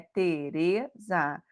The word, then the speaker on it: Teresa: Teresa, e o re é a mais forte, também.